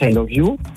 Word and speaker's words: Iluvu: D'accord, ça se prononce I Love You.